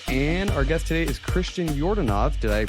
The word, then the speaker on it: Christian Yordanov: here Ben's here and our guest today is Christian jordanov did I pronounce that correctly yeah all right cool so